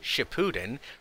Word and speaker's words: Shippuden: or rather the title of the series, Shippuden, rhymes with the phrase, shitting pudding.